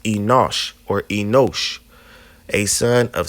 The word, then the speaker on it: Enosh: Now, if we go and keep going to the third person, it's enos, right? And it's actually pronounced Enosh or Enosh, a son of Seth, but also it means a mortal.